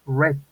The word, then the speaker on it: read: o se lee read, ese se va a quedar igualito en pasado, solamente que se va a pronunciar como el color rojo, red, red, ¿ok?